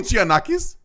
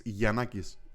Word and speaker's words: Giannakis: Did you just call me Giannakis? Did I not? I'm not Italian. Well, okay, how do you say your name? Giannakis? With a soft J, it's Giannakis.